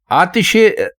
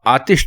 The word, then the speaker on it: آتش: لیکن اگر آپ اس کے درست معنی یعنی درست تلفظ ہم سے پوچھیں تو ہم آپ کو کہیں گے کہ آپ آتش استعمال کیجئے. آتش غلط ہے، لیکن غلط العام ہے، مطلب ہے ساری دنیا اب آتش کہتی ہے تو